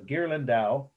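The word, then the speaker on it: Ghirlandaio: to spell everything twice so gerland dao is how you pronounce it and the date is 1480.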